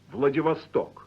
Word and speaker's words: Vladivostok: call a casual rippling effect with the unstressed syllables. Say Leningrad. Leningrad. Correspondent. Корреспондент. Vladivostok.